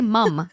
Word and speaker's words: mum: trying to gaslight me, you don't say mom. You say mum. I don't Especially care. Australia. I don't care if you think it's mom. It's not mom. You're saying mum and you spell it MUM. That's mum.